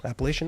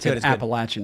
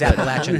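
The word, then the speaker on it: Appalachian: here uh appalachi nights appalation nights it's all anybody drinks and I'm like I'm glad it's a hit have other coffee I actually pronounce appalachin nice it is appalachin cuz he's actually from here guys this is him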